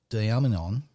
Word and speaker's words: daimonion: It's the word daimonion, I believe is how they pronounce that.